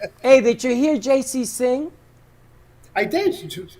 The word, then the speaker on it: Jaycee: my name I I my name is spelled out actually it's j-a-y-c-e-e that's JC it's not just the initials the way I got